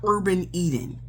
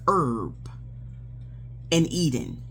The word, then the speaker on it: Herb and Eden: and not Urban Eden because I almost got that confused but I'm like that's not how it's spelled on the shipping slip. It's Herb and Eden and they are blackowned and it's a husband and wife duel.